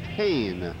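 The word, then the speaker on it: Hoehn: Now the designated hitter, Brian Hain, H-O-E-H-N, pronounced Hain.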